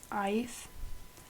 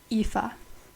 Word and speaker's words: Aoife: I pronounced it as Ife. It's pronounced Aoife.